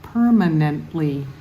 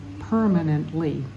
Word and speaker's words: permanently: verse 35 has a four-syllable word permanently and the emphasis is on the first syllable permanently so let's go from